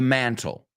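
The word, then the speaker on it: mantel: make it e-l and is it pronounced the same please put please hang the stockings from the mantle mantle do they sound the same absolutely nice job Kubla and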